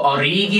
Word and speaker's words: Origi: I think it's 5 goals for Origi, actually. Origi, you said it right, guys.